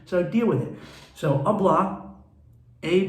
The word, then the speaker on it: hablar: i speak spanish so deal with it so oblah a b for pronunciation purchase there's an age there but it's